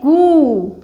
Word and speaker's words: कृ: इसको हम कहां लगाएंगे? नीचे। यहां नीचे। जैसे कृषक। ओके? नीचे कृ इसका उच्चारण कैसा होता है? कृत कृत।